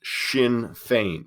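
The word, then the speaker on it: Sinn Féin: its political wing okay a a faction called shin fein so that's what you see up here at the top that's how you pronounce that shin fein um so shin fein you know was was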